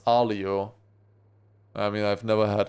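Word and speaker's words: aglio: It's written uglio but pronounced alio.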